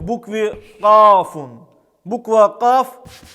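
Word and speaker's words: ك: Буква Каф произносится, когда мы среднюю часть языка прижимаем к среднему небу и затем отрываем. Эта буква также является смычной и глухой, произносится без звука. Она является мягкой, читается через и она мягче, чем в русском языке.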